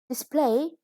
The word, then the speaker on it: display: to be eaten next display there is a verb with a stress on the second syllable and it means to